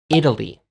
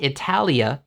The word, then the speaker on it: Italy: How do you say Italia in English? You say Italy. Not Italia, you say Italy.